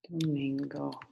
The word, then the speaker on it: Domingo: you last one then Domingo that's one of my favorites because it actually sort of rhymes with Bingo okay I've got another